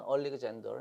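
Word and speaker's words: Alexander: 알렉산더, 우리가 이제 알렉산더 이렇게 발음하는데 정확한 발음은 얼리그젠더 이렇게 발음하셔야 돼요.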